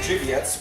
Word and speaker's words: Żywiec: Żywiec, which we should have covered earlier. That's how you pronounce that.